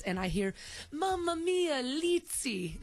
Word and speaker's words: Lzzy: I hear Mama Mia lzy they call me litzy there and I guess it's like pizza I don't know place pronounces